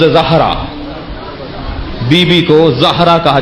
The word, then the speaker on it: زہرا: زہرا اجلت میں بولتے ہیں ہم، تلفظ زہرا.